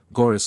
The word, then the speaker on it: Gorice: Corand is accented on the first syllable, Presmara on the second, Brandoch Daha on the first and fourth, Gorice on the last syllable. Rhyming with thrice, Corineus rhymes with Flaminius, Galing with sailing, Lafarise with desire ease, Ch is always guttural, as in Locke.